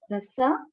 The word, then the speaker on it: rasa: So now sapta dhatu, the ras, the pronunciation is ras. The ras, R-A-S-A, ras, that is a fluid, bodily fluid, the plasma.